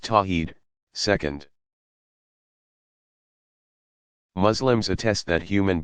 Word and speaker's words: Tawhid: affirming God's absolute oneness is called Tawhid pronounced tawheed second Muslims attest that